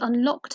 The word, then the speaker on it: unlockt: And when she came back and unlocked her said door, so the word unlocked is spelt Unlockt, so it's pronounced the same but spelt differently, so could trip you up there.